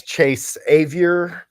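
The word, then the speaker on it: Chase Avior: yeah bad meat yeah my name is Chase a rhymes with behavior bad behavior and uh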